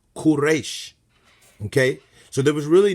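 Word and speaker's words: כורש: if we go into the Hebrew it is pronounced quresh okay so there was really no need to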